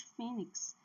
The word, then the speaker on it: fênix: Por isso nós temos fênix para indicar que a sílaba tônica é a penúltima e não a última.